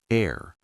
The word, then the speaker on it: heir: Some H words are silent, like hour, honest, honor, heir.